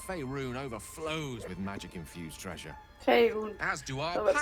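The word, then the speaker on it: Faerûn: Faerun. As do our So wird's packs, ausgesprochen, as a ich matter vergiss of es immer.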